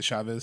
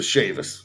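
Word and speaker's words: Chaifetz: Like, is it how you said the Chavez Center? yes, the Chavis. Yep.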